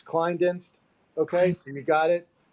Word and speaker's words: Klinedinst: forgetting to ask you is how do you pronounce the law firm you work for you had it right this time it's kleindenst okay and you got it uh yeah i think climb deck bar client.